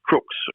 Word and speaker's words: Crux: Its correct name is crux, or you could pronounce it crux, so like a crucifix.